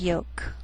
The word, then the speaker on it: yolk: she'll it'll wheel veil sometimes L can be silent so you have to be careful the first five words